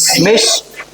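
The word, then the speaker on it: Misch: name M आई एस सी एच क्या होगा pronunciation मिस metal मिसमेटल ये एलॉय का नेम है जैसे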